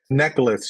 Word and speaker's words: Nichelle: this Nichelle how do you say her name necklace you actually say her name necklace necklace yeah